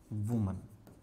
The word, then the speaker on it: women: अगर एक औरत है तो उसको अपन क्या बुलाएंगे, वुमन। इसकी स्पेलिंग होती है WOMAN।